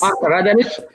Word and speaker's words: Radelich: Now I am returning to Professor Radelich, how do you pronounce it? Yes, this is correct. Yes, Radelich, and your voice is excellent.